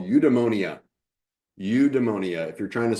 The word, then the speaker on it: eudaimonia: And it's a Greek concept called udemonia. Udemonia. If you're trying to spell it, it's e u d a i m o n i a.